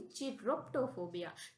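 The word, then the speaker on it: chiroptophobia: इसको भी हम पढ़ेंगे ची क्योंकि सी एच आई ची प्रोनाउंस करता है। Chiro Chiro. अब यहां लिखा थिटो पी टी यू चिरप्टो चिरप्टो इसको हम पढ़ेंगे चिरप्टोफोबिया चिरप्टोफोबिया मीन्स क्या होता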